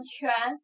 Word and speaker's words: 权: 接下来这个字呢，读作权，权力的权。